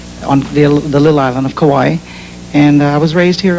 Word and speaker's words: Kauai: I was born in Hawaii, on the little island of Kauai. And I was raised here also. You said Kauai, and Don Ho told me it's pronounced Kauai. That's the way Don pronounces it.